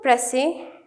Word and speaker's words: précis: ठीक है, writing a प्रेसी, इसको प्रोनाउंस प्रेसी किया जाता है लेकिन इसको लिखा जाता है PRECIS।